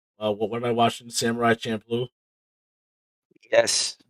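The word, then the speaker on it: Samurai Champloo: what am i watching samurai champ blue yes oh you pronounced it right i can't believe it it was me it was samurai shampoo until i watched the show yeah what do you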